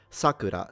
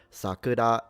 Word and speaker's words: Sakura: a child in Japan there is a difference in pitch if you say like Sakura that's the name but Sakura it's the cherry blossom so they are pronounced differently.